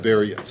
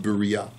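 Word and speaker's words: בריה: Gemara says Berea shining or like they say in yeshiva burials a mispronunciation from the yeshiva belt but it's actually pronounced Berea so the Gemara answers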